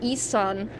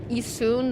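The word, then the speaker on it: Issun: Growing Growing up, I always called him Ean, but I think I think he's actually Isun. That's the correct pronunciation of it.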